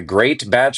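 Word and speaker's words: Greatbatch: It is spelled like a great batch of cookies. My last name is Great Batch and that's where it comes from.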